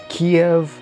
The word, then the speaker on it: Kyiv: Really, the difference between Kiev and Kyiv is Russian versus Ukrainian language.